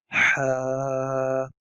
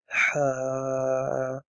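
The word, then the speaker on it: ح: Ha. Ha. Ha. It is an H sound, like H for hen, but it is something that comes from your throat, the middle part of your throat.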